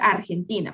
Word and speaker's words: Argentina: Aquí hay un ejemplo de cómo nosotros tenemos que modular nuestra R. Porque nuestra R en español es bastante pronunciada, ¿verdad? En cambio, en inglés es un poco más suave.